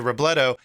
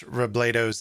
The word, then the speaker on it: Robledo: have been mispronouncing miss robledo's name during the story it's actually robledo and not robledo like i mentioned in